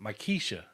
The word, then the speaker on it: Maquetia: Maquetia. I know. That's pronounced Makisha.